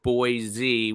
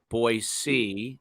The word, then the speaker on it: Boise: from a week ago it's not boy Z with a z but boy C so I will try